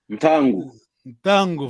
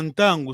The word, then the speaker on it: ntango: Voilà, l'autre sens aussi, le soleil en Kikongo, c'est Ntango, voilà, Ntango, c'est Ntango. Hein? Tango, wow. C'est Ntango, c'est Kikongo, c'est Ntango. Parce que eux, ne peuvent pas prononcer le N et la nasale.